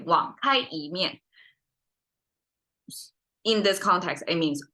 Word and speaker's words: 网开一面: So we have 网开一面 instead. So we rise the tone. So it reach 一, and then from there, 面, it drop down. Instead of 网开一面.